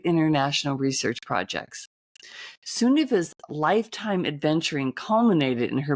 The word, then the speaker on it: Sunniva: Sunniva. Sunniva. It's a good Norwegian name.